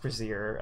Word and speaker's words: brassiere: bra CA embrasure and I used to pronounce the word brazier brazier and like someone was like no that's a bra but that's a bra CA and not a brewski here silly there's this not a word that's correctly pronounced brassiere I don't feel unless